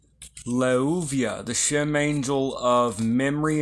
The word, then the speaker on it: Leuviah: This Shem angel is Leuviah. Leuviah governs memory and intelligence. It is spelled in Hebrew, Lamed, Vav, Vav, Yod, He, Leuviah.